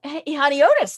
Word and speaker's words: Honiotes: in welcoming patricia honeitis to our program today honey otis there i said it right um so welcome